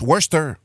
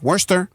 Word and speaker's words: Worcester: Ça s'écrit Worcester, mettons, mais ça se prononce Worcester. OK. Je sais pas Nice. ça, mais il y a une syllabe de trop qui est constant.